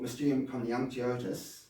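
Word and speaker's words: Mysterium Coniunctionis: Well, in Yung's followup book, Mium Kanyotus, that's the correct pronunciation.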